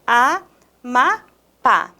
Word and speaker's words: Amapá: Olha a palavra Amapá. Quando eu separo em sílabas, temos Amapá. A última sílaba é a minha sílaba tônica, inclusive é acentuada.